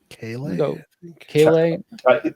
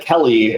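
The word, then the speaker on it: Kele: And then we have is it Keeley or Kale? Kale. I feel like Jeff pronounced it like 3 different ways throughout that.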